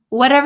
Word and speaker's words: whatever: you want is fine whatever you want is fine whatever you want is fine again a lot to do with the T sound here whatever so this T becomes a flop te whatever whatever whatever you whatever